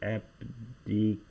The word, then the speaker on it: abdication: here it's the word abdication abdication and it's actually giving the pronunciation of the word so this is abdication and you see here is like the ti that is pronounced in English like sh and you see that